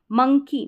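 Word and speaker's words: monkey: रहे हैं short a मंकी मंकी यहां पर अ ओ जो आ रहा है इसको अ पढ़ रहे हैं ओ यू के कॉमिनेशन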